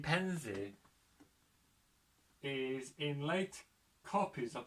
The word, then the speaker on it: Pevensey: The spellings Pevensey, Pemzua, includes local pronunciations Pimsey and Pemsey.